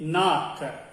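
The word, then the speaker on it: नाक: Nose we say in Hindi naak. Nose we say in Hindi naak. Naak is nose. N-A-A-K. Naak. Naak means nose.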